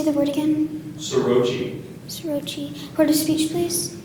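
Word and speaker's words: soroche: Your word is sorochi. Sorochi. Are there any alternate pronunciations?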